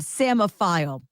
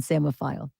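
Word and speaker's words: psammophile: but there's a p there's that silent p in that word samophile p-s-a-m-m-o-file p-h-i-l-e I got nervous because it was very slow with the last letter the e in samophile like you get to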